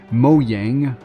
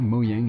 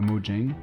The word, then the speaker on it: Mojang: premières impressions sur Scrolls le nouveau jeu de moang parce que oui c'est comme ça que ça se prononce en vrai moang et pas mojeng et donc après Minecraft il s'attaque à un